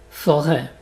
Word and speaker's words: forêt: Par exemple dans fête, party, forêt. Donc tu peux t'imaginer que tu prononces ça comme un R accent grave, mais tu l'écris avec un chapeau.